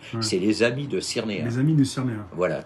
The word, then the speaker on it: Cyrnéa: Alors, à Cyrnéa s'écrit C-Y-R-N-E-A. Cyrnéa. C'est très simple.